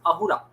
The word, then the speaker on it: Ahura: They cannot pronounce the s sound, so it becomes Ahura.